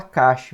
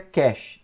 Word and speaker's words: cache: Alguns abrasileirando falam cache, mas é cache em inglês, que é um tipo